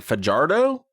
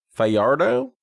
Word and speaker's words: Fajardo: Written by Ian, I'm going to not pronounce this right. Fajardo. Fiardo.